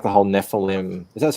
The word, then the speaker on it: Nephilim: bell but I like I like the whole Nephilim that's how you pronounce it yes yeah I like that whole